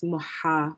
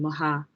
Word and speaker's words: Muhammad: this is quite heavy as well so it's muha rather than maha mohammed and then there's a double m in